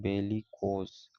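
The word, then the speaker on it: bellicose: बताता है second word है बेली कोस इसका प्रोनाउंस बेली कोस वार लाइक अग्रेसिव क्ल समम यानी युद्ध के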